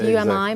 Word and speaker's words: Umi: just a coincidence so you me right that's how it's pronounced Umi but you know exactly